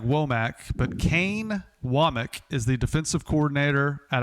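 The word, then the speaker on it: Wommack: Kane Wamik is how you pronounce this. It's spelled like WAC, but Kane Wamik is the defensive coordinator at Alabama.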